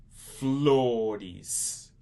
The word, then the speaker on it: flor: Flores. Flores. F-L-O-R-E-S. Flores. Flores. F-L-O-R-E-S. Flores. Flores.